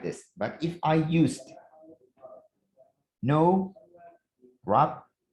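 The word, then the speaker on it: nowrap: but if i used no wrap this w is not pronouncing do not forget if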